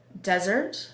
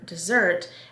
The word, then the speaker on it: desert: Then a homograph is something that has the same spelling, but different pronunciation. You're gonna say the word differently, and it's also gonna have different meanings. So your example under the homograph is desert, which is an area of land, or desert, which means abandon.